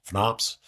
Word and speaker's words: FNOPS: And of course, there's always they call the Freedom of Navigation Ops, FNOPS. That's how you pronounce that acronym.